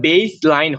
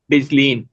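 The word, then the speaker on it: baseline: হ্যাঁ হ্যাঁ এখানে, তাহলে শুরুটার উচ্চারণ হচ্ছে বেজ, তারপরটা আচ্ছা হচ্ছে LINE লাইন। যদি আমরা হচ্ছে সেকশন 2 এবং 3 এটা যদি আমরা অ্যাপ্লাই করি আর কি, এখানে তাহলে বেজ লাইন হয়।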